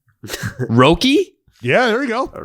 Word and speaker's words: Roki: about uh i'm hoping i'm pronouncing this right probably not roki yeah there you go a rookie roki sasaki